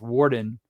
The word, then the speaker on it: Worden: It's like. no, it's Warden, and it's Yeah. pronounced, but it's spelled Warden, but it's pronounced Warden.